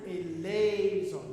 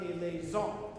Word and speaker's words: eleison: Now remember, the word is a liaison. It's not a liaison, right?